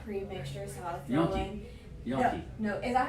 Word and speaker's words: gnocchi: And I started adding vegetables to that pre-mixture, so I'll throw in Gnocchi. No, is that how you say it? Yeah, it's the Italian pronunciation. Yes. G-N-N-O-C-H. Yes. Something like that. Yeah, Gnocchi.